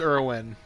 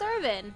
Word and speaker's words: Irwin: Steve Irwin. Yes? R.I.P. Yes. Yep, Steve Irwin. R.I.P. Irvin. Okay, I said Irwin. It is Irwin. I thought it was Irvin. It's not Irvin.